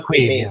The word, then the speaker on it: Caimh: Okay, so that is how that gets pronounced, right? It is Queeve, yeah, Queeve.